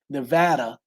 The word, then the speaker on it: Nevada: Funny, my wife and I, because we live in let me say it right, Nevada, uh, just outside of Vegas.